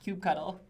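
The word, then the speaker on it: kubectl: add a link yeah Jason says no it's pronounced cue cuddle so actually speaking of cute cuddle I was thinking how much fun it would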